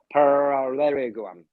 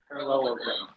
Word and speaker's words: parallelogram: I cannot say that too much L and R going on. But when we see the good adjustment, we see the parallelogram. Dr. Skylar, can you say that for me? Parallelogram. Thank you. Can you say that one more time? Parallelogram. Okay, thank you. That's the right pronunciation.